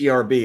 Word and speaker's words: herb: the chat drop drop how you pronounce it with Earth without the H herbs are herbs it's an herb well just spell it the way it sounds so if you put the h h e r b is herbs if it's Erb or because that's one thing I'll never understood why people sometimes silence the age and some people that they don't it's an herb it's